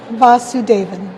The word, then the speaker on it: Vasuvedan: Vasuvedan. Vasuvedan.